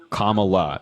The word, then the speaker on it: Kamala: a certain way it's commala it's it's really that easy it's just like comma in a sentence L just comma L there's no reason to